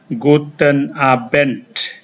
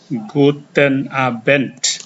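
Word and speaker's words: Guten Abend: bisa mengucapkan salam ini kepada orang itu dibaca Guten abent Guten abent artinya selamat malam dan kalau kalian ingin mengucapkan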